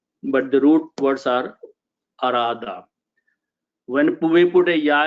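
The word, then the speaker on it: أراد: And Alif, if I put an Alif, it becomes 4 letters, and it is pronounced as Arada.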